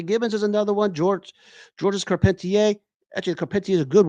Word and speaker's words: Carpentier: Georges Carpenter. You can, or it's pronounced Carpentier. I'm not good at my French.